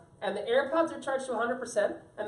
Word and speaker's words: AirPods: Now those are called the earpods. Now another one. Yeah, AirPods. AirPods. Not earpods. AirPods. I said it wrong.